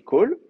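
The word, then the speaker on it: כָּל: Ça va toujours se prononcer kol, mais ça va se noter kametz.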